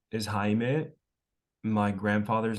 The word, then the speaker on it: Jaime: I'm Jaime. It's spelled like Jamie, but it's pronounced Jaime. So yeah.